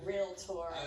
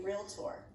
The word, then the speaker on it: realtor: local, and find a realtor. And let's just clear up this debate right now. Is it realtor or realtor? 2 syllables only. Okay. Real. Thank you. Tour.